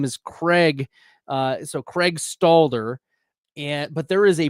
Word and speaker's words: Stalder: buddy Bradley at FF Stalder. So, I I thought you were Stadler for a really long time, and I apologize. I was I was pronouncing your name Stadler and I was dropping your name in the chat ster everywhere.